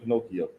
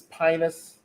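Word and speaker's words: Phinehas: much but nothing yes i almost want to say pinocchio but it ain't pinocchio it's pinus where verse 23.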